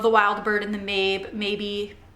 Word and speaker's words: Mabe: Maybe it's M-A-B-E. I think it's pronounced maybe.